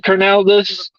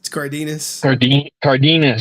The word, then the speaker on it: Cardenas: But I mean, I remember paying $50 for Steve Carnaldus. I said his name wrong, but Steve, the other Red Ranger, Cardenas.